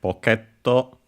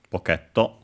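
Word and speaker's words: ポケット: And uh it's actually in this case on the K. So PTO uh instead of on the P as expected. So be careful. uh at least I would have uh as a in pocket uh and so yeah uh I expect on the pot but yeah it's actually on the case so be careful pocketto and then we have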